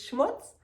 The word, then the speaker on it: Schmutz: The last one on my list is Schmutz, and it's pronounced and used the same in both languages. So Schmutz means dirt, and schmutzy means dirty.